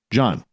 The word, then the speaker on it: Gian: I should also mention you can find all of John's books on Amazon, so make sure you go check them out. John is spelled Gian.